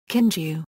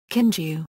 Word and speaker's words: Kinju: Kinju, Kinju, like Kogi, by convention is pronounced in Chinese.